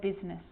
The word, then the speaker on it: business: or rhyme good news the i is not usually silent it's usually pronounced except in the word business okay k now i